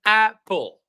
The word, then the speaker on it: apple: But notice Ashurmatov Though we have two P's in the writing, in the sound we have only one P.